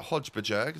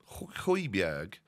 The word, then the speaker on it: Højbjerg: This time around, we're going to get Hodgebjerg. That is the incorrect pronunciation of his name. I say it every time. Højbjerg, but I prefer Hodgebjerg.